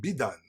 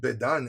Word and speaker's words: Bedan: Now this actually might be pronounced Bidan, because the bet actually might be an abbreviation of the word son, Ben. And it might have been Ben-Dan.